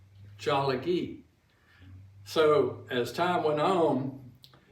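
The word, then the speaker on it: Tsalagi: They call themselves Jalagi. Jalagi.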